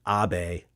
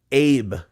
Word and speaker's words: Abe: American right because like the name AB right Shinzo Abbe the the Prime Minister ex- prime minister who got assassinated last year he was or this year whatever it was he that's Abe in American you know so that's